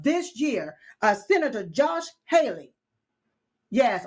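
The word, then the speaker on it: Hawley: Uh, Senator Josh Haley. Yes. Or Holly. Well, however you pronounce his name. Okay. I've heard Holly, but it's spelled Haley.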